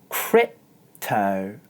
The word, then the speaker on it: crypto: let me demonstrate crypto Krypto as you can see instead of making a sound I do a glottal stop and then gently press my lips together before moving on to the next syllable watch again this time